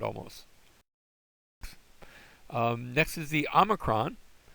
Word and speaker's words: omicron: Next is the omicron. Omicron has the ah sound. It looks like our O, but it doesn't have an O sound. It has an ah sound.